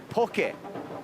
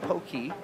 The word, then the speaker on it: poke: And of course, we say in Hawaii we say pokey, not pokey with a e.